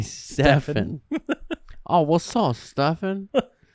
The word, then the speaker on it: Stefan: It's spelled Stefan.